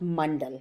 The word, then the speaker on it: mandala: as my first language it is actually a sanskrit word which is pronounced mandal it has been romanized